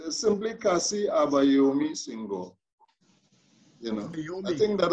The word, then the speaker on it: Senghor: did not that's okay it's simply kasi abbayomi singho you know i think that uh african names